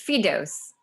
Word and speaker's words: Firdous: If you don't mind calling me by my full name, it's Firdous. Firdous. Amazing. Yeah. Thank you. I wasn't sure how to pronounce it properly, so that helped.